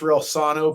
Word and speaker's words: Reilsono: your last name correctly came close first of all thank you for having me on I appreciate it and it's real Sono but that's that's good I get all kind of pronounce but that's good you were very close Ro I'm sorry I